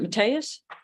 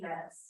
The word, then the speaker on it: Mess: is it Mateus? Did I pronounce it correctly? It's Mess.